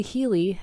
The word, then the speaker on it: Healy: So, the Healey, it's spelled H E A L Y, is a microcurrent medical device.